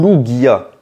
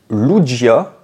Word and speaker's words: Lugia: Lugia louia ou Lugia et bien la vraie réponse c'est lugia et oui c'est Lugia bon ça va là-dessus je me suis jamais trompé je l'ai toujours bien prononcé mais j'entends beaucoup de personnes dire louia et personnellement ça mérite les typant c'est lou guia pareil ça c'est un